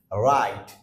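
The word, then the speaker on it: write: পূর্বের ওয়ার্ডটা ডব্লিউ থাকে সেক্ষেত্রেও আমরা ডব্লিউ এর উচ্চারণ হয় না সরাসরি আর এর উচ্চারণ চলে আসে যেরকম রাইট most common words রাইট রাইট রাইট another one is wrong রং রং এখানে আমরা ডব্লিউ এর উচ্চারণ করছি না সো হোপ ইউ হ্যাভ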